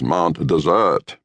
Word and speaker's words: Mount Desert: As decreed by the natives, one spells it Mount Desert, but the pronunciation is Mount Desert.